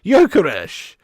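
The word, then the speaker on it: Gyökeres: Jokeresh. Are you fucking serious? Thank you, Luke CX. Appreciate you, lad. I can't say that, mate. I can't say that. The G is silent.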